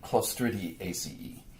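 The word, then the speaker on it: Clostridiaceae: You say A and then C, that's the CE. And anytime you see A and E together, you would pronounce that as E as well. So A-C-E. ACE is how you would say that. So there's the family Listeria ACE and the family Clostridiae ACE. Clostridiae ACE, you would actually say it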